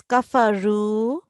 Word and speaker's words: كفروا: I don't know if I heard it wrong, but I thought you pronounced this da. It's kafaru. Can you recite this again? إن الذين كفروا Kafaru, it's ra. Ru.